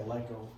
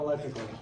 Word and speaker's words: electoral: I say electoral. It's not electrical.